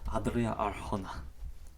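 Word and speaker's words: Adria Arjona: Adria Arona. I'm not doing the roll. I can't roll my tongue. I can't do that either. Gosh. Audrea Arona. Adria Arona.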